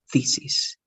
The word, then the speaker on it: thesis: You only, the pronunciation is different and with an H, okay? T-H-E. So it's going to be thesis, thesis.